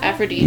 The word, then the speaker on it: Aphrodite: That's how you pronounce it. Aphrodite.